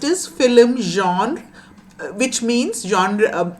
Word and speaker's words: genre: The first is film genre, which means genre, is a French word. It's pronounced like that.